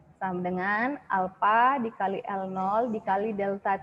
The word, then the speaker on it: alpha: Tapi kalau di soal dikasih tahu alpanya, ini bacanya alpha ya nak, koefisien muai panjang bacanya alpha.